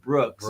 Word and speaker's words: BRX: mean minus angst yeah Brooks BRX you pronounce it Brooks I mean if you're